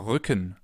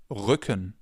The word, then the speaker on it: Rücken: Or Rücken, back, Rücken.